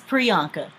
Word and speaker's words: Priyanka: So how do you pronounce her name? It's Priyanka. Priyanka.